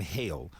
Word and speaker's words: Hale: It's Hale, not Haley.